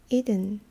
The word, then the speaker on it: Eden: Eden. 그 에덴 동산을 영어로는 이든이라고 해요. 이든. 발음이 좀 틀리죠.